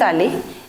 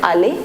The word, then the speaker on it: allée: Now be very careful that the pronunciation is going to be same in all the cases. Je suis allé, tu es allé, il est allé, elle est allée. We are writing this e, but the pronunciation remains same, right?